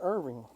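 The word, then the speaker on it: Earvin: a minute hold on you said it correctly Irving but it's not Irving it's Irving his name is Irvin because his mother probably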